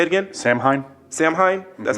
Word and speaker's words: Samhain: I think that comes from the whole, I don't know how it's pronounced, but the sort of Wiccan holiday. Say it again? Samhain.